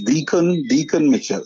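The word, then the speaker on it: Dickon: just recently um is is is Decon that's what he's pronounced his name or Deacon yes Deacon Deacon Michelle um first of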